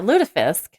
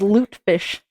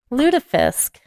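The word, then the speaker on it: lutefisk: just like uh yeah ludifisk um I mean they serve that up in the north have I just been saying it wrong yeah thought it was loot fish Lish well [ __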